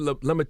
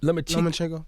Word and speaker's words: Lomachenko: Now, what about, how you pronounce this dude name? Lemachik? Lomachenko.